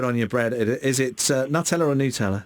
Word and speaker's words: Nutella: It should be pronounced Nutella, not Nutella. Nutella is correct Italian way of saying Nutella.